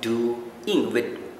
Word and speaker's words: doing: No, it's not doing with a very sharp ing. No, they pronounce it as doing, which means between O and I, they have an element of W sound.